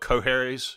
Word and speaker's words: Qoherys: But Qoherys, like that, yeah.